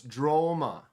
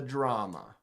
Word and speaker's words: Droma: So it's Droma, not the drama. The Droma. I was saying it wrong.